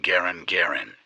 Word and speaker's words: Garand: He actually pronounced his name Garand, but everybody calls it Gen, right, kind of like carbine, Garand.